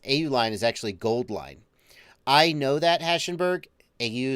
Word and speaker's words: AU-Line: It's Gold Line.